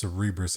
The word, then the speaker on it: Cerebras: Well, it's Cerebras as in cerebral, I think.